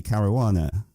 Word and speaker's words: Caruana: fini Cara Juana hello Vinny hello that's the correct pronunciation I love very rare how are you